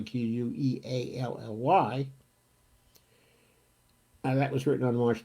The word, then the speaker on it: Queally: There was an article that appeared in Common Dreams by John Kelly. I think it's pronounced Kelly, Queally.